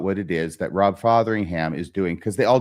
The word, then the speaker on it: Fotheringham: It's an O, Fotheringham. I think it'd be pronounced the same either way.